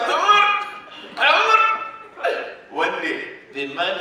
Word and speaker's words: Omar: Like, he was telling me a story, he said, Omar! That's how you say my name. Omar!